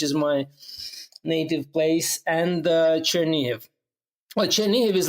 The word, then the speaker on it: Chernihiv: Can you explain a little bit what the situation is in Chernihiv at the moment? Did I say that right? I really struggle. You pronounce it correct, except the city is wrong.